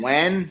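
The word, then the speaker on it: Wiwen: Spell it. Oh, W-I-W-E-N. Win.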